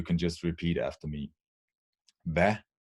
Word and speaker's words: hvad: And we have a few very used words in Danish where with 1 or 2 silent letters. I'm going through the list and you can just repeat after me. Hvad, it's a word for what.